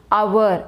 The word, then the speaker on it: hour: The correct pronunciation of this word is hour. It means we should pronounce this word like this, hour.